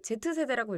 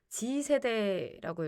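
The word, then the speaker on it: Z세대: 사실 이걸 Z츠 Z제 세대라고 읽으면 안 되고 지세대라고 읽어야 되는데 이뭐라 해서 그런지.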